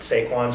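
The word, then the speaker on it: Sequans: I don't know if it's Sequins or Saquons. Being that it's um a French company, I'm going to pronounce it Seaquins.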